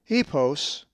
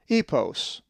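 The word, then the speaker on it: ἵππος: If you said epos, you are correct, for the accent is over the iota, epos.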